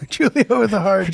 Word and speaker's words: Giulio: Giulio What's up? with a hard G. Julio with a hard G.